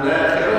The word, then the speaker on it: ناخرة: قراءتنا أإذا كنا عظاما ناخرة ولا نخرة؟ نخرة. القراءة الأخرى ناخرة. Di ayat ini, di Al-Quran ini bacanya nakhirah pendek, tetapi ada di qiraat yang lain itu nakhirah pakai alif panjang.